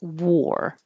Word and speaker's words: war: L civil and and War the war w a r and w o r e sound exactly the same war Civil War um